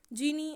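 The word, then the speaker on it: djinn: जिन हम किसको बोलते हैं, जीनी, जीनी और जीनी, कुछ भी हम बोल सकते हैं। सो डी जे, यहाँ पे डी साइलेंट है तो इसको जीनी बोलेंगे।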